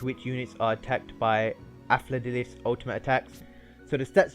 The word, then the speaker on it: Afla Dilith: Yes guys, it is pronounced Afla Dilith, not Alpha Dilith.